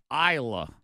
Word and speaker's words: Isla: It's Isla. Isla. Isla. The S is silent.